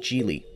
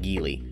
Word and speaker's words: Geely: one offered by chinese manufacturer gili yes it's pronounced chili not gili jili has been making waves in the automotive